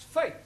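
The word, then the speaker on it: fete: the rule for example f e t e is also pronounced fate one no one no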